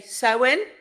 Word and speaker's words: Samhain: expert Halloween we've got but it's spelled Sam Hayne but we say so in that's how I've always